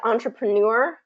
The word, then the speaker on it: entrepreneur: try entrepreneur perfect yep so it's ontra yeah so that one's a tricky one i've actually used that i've worked on that with many many students as i worked with them live because that one comes up quite a bit entrepreneur and what's interesting about this is that the word stress is in the final syllable which um which in